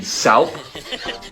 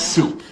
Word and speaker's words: soup: what's this word now it'd be salp as in chicken noodle salp no it's soup you don't see how